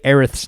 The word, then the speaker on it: Aerith: then they go and they say aerith's name as aerith and people are like well that's how it's pronounced you know like it's official like they said it in the kingdom hearts game like that's how earth's name is pronounced some people will still